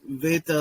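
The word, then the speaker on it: βῆτα: that the question was isn't pronouncing Vita like a v a modern Greek thing and the answer is actually no uh the the more novel or modern thing for Greek would be pronouncing B um which came essentially with erasmine otherwise it's always been a v sound and uh we have manuscript evidence that makes that very clear uh for example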